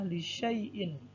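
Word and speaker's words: لِشَيْءٍ: Katanya adalah lisyai'in. Ini ada alif, namun alif ini tidak dibaca.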